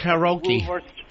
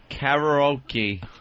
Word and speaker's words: karaoke: What's karaoke? Karaoke. Karaoke. Say it like an American.